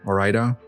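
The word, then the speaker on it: Ore-Ida: See, I pronounced that correctly this time. Orida.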